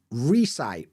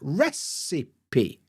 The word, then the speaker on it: recipe: time um for example I hear a lot of people say Reye or reip or re you know whatever weird pronunciation of this word but if you look at the transcript you can see that it's recipe recipe recipe and you wouldn't